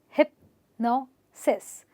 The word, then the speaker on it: hypnosis: So it's actually got 3 syllables and it's hypnosis. So I don't stress on hip, I don't stress on this. I stress on the syllable before the SIS, and I say hypnosis, hypnosis, osmosis, hypnosis.